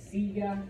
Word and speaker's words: silla: That's the second to last syllable. It's not mesa, it's mesa, mesa, okay? Follows the rule, okay? Silla means chair.